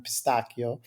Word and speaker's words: pistacchio: and that is pistachio, or pronounced in Italian pistacchio.